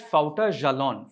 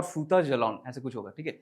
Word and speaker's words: Fouta Djallon: It is pronounced as Fouta Djallon. Fouta Djallon is French. Djallon it's Fouta or Futa Djallon.